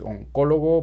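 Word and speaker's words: oncólogo: oncologist and in spanish is on color please look at the accent on the o this is a doctor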